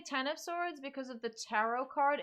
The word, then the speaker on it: X of Swords: yay uh ryan craig is it supposed to be pronounced x of swords tennis swords or cross of swords i've heard all three and i'm still confused i'm gonna say ten of swords because of the tarot